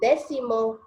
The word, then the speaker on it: décimo: there anyway Simo that sétimo and décimo the stress is on the first syllable that's what the accent